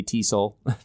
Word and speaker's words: TESOL: it or say it enough you'll you say Teasle yeah there's a way to pronounce every acronym so one of the challenges